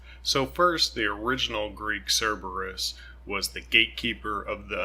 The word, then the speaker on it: Cerberus: was Dante's version of Cerberus we can pronounce it Kerberos I think perhaps the original Greek was Kerberos I grew up with it being called Cerberus so I'm it's gonna default to that so first the original